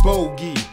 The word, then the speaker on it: Bogey: let me introduce myself my name is bogey pronounced with the og while i like nick